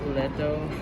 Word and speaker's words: L'ETO: This is in, how you pronounce this restaurant? Leto.